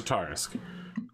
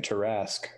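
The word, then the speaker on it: Tarrasque: It took me a moment to realize you were saying Tarask.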